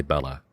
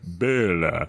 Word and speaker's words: Bela: It catches in my head every time of like, I want to say Bella. Yep, but it's Bela. It's Bela. So Bela Lugosi. It's really hard not to go, Bela.